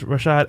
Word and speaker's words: Rashad: Sing what's up, my brothers Rashad and Troy.